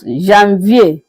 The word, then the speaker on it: janvier: In French, it is being pronounced as janvier.